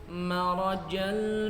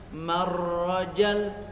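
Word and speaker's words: مَرَجَ: Dalam Al-Quran tuh marajal bahraini yaltaqiyan, marajal bahraini bahraini yaltaqiyan. Malah dibaca bertasydid huruf-hurufnya. Marrajal, enggak boleh. Marrajal bahraini yaltaqiyan. Meskipun nadanya bagus tapi bacaannya salah ya tetap salah.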